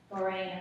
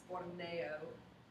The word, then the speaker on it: Borneo: Boreno. Can you show me? No, that's not correct. Ms. Hagen, will you please pronounce that for me? It's Borneo.